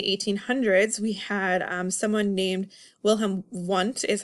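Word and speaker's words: Wilhelm Wundt: especially in the 1800s we had someone named will him want is how you say a German scientist he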